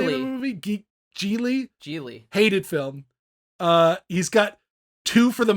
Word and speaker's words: Gigli: He's got like Gigli, or how do you pronounce the name of the movie? Gigli.